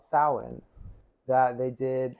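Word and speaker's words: Samhain: there no it's actually you wouldn't know how to pronounce it uh just looking at the spelling It's s a m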